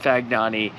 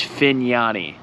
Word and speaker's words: Fignani: Number one, it's not Fagnani, it's Fignani. Is how you pronounce it.